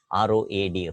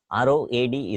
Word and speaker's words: road: We have often heard people pronouncing R-O-A-D, road, but it is a wrong pronunciation. R-O-A-D is not road, it is road.